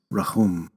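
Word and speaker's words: רחום: the ancient hebrew word which today is often pronounced rahum in ancient hebrew this word is spelled with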